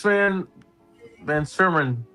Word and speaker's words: Van Sermon: Yeah, I'm gonna go Alex Van Sermon. That's how you pronounce the last name.